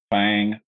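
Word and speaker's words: Thaing: a derivative or a branch of bondo called fang which is spelled t-h-a-i-n-g there is a component called lip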